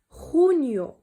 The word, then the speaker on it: junio: juin، junio. vale. اذا هذه لا خطه، vale. لا خطه دائما كنطقوها بالخاء. اذا خونيو، خونيو.